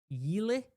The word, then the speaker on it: Yle: According to Finnish broadcaster Yle, that's how you say it, analysts report that